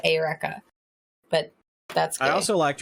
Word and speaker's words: Eureka: characters seven it's not Eureka Seven that's what it is I don't know I've heard the wheat that weaves you're supposed to pronounce it ayureka but that's I also